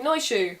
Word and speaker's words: Noisiu: But the medieval spelling is Noisiu, which I would pronounce as something like Noishu, which might be wrong, but that's how I'd say it.